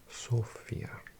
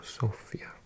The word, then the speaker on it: Sofia: Well, I think in English we call it Sofia, but my Bulgarian friend says it's pronounced Sofia with the accent on the O, Sofia.